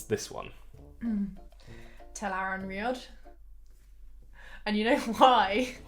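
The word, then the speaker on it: Tel'aran'rhiod: How would you pronounce this one? Telaran Riod.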